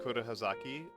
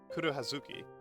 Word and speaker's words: Kuro Hazuki: Um I know at the very least Kuro Hazaki. Uh I'm sorry I'm saying your name wrong. Kuro Hazuki. Kuro Hazuki.